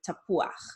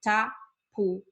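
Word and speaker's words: תפוח: You see that U and that A together, don't put them together. They're two different vowels and you need to pronounce them both. Okay, so tapuach.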